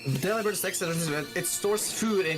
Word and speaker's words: Delibird: So it's Delibird, it's not delivered. Anyone who says delivered is banned. It's fucking delivered. Ugh. No. Even if you say, even then, like, bird is pronounced bird, so that's Delibird.